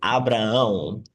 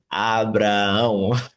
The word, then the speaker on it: Abraão: In Portuguese, the language from Brazil, it is Abraão, Abraão, Abraham. Abraão.